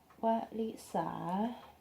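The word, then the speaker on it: วริศา: In Thai we will say Walisa.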